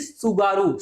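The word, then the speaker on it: Tsugaru: पा रहे होंगे कि सुगारू। सुनामी। सुनामी कहां है? कहां से ओरिजिनेट हुआ? जापान से ओरिजनेट हुआ। तो उसी के बेस पे अगर हम टी यहां पर साइलेंट है तो ये हुआ सुगारू।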